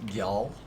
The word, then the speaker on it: Gjall: the misslands spelled g-j-a-l-l I think it's pronounced yell um but yeah it's